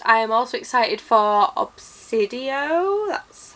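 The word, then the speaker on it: Obsidio: for that and I am also excited for obsidian that's how it's pronounced and which is the last book in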